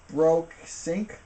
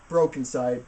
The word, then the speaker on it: brokeNCYDE: By a group called brokeNCYDE. No, brokeNCYDE. brokeNCYDE. BROKE. Broke. Side. NCYDE.